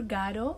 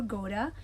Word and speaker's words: Godot: And the next book that I read, Waiting for Godot or Waiting for Goda, it's up to you how you pronounce it, but I am comfortable Waiting for Godot.